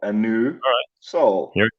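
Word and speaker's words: Anusol: Capital A, N-U, capital S-O-L. A new Sol.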